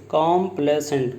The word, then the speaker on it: complacent: Complacent, and students, the pronunciation is complacent, complacent. Students, complacent, the pronunciation, the difference is ACENT and ISANT.